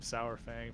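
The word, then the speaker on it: Saurfang: after six minutes uh what you say his name was Sour Fang yep s Fang sour it just sounded funny okay sour Fang I've called him SAU Fang for a long time um do you know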